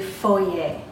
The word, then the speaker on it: foyer: or a foyer or if you want to pronounce it correctly since it is a French word you will say Foley a Foley a now you